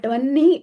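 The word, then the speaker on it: वह्नि: See, when we write in Sanskritam Vahnau, but then it is pronounced as Vannau. It's not that we don't know, we know that, but Vanni, we say, even though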